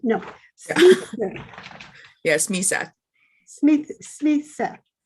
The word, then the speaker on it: Smythe: Smith.